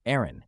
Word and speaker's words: Aeryn: more welcome and representative identity the new name Aaron OS is pronounced Aaron and has a deeper meaning air from Latin